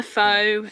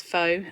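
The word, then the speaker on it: phở: Uh yeah I know fur fo um you know I often refer to it as faux. I there's no no nothing wrong with saying that.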